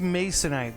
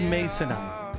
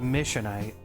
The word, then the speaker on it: masonite: So I've used masonite. I think the one you got was probably masonite. Yeah, 1S. Mason, not missionite. Not missionaryite. Mason, M-A-S-O-N-I-T.